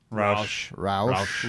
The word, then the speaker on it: Rauch: No, this is our I don't even know the pronunciation. Is it Rauch beer? Roush.